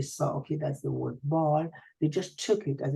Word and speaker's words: Bâle: That's why we don't say, for example, the city Basel in French, we say Bâle, as we don't say Geneva, we say Genève, right?